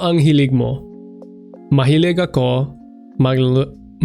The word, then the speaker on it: magluto: Mahilig ako magluto. There's not 3 syllables in that. Magluto, there is 3 syllables, but it's not maglaluto. Magluto.